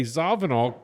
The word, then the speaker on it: Zawinul: Joe Zavanol. And I say Zavvenol because I heard uh Cannibal Atly say it.